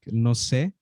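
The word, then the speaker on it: no sé: you probably know the correct like way to say it is like no se like if you're saying um someone asks you a question and like you say i don't know in spanish the correct way to say is no se but then in mexican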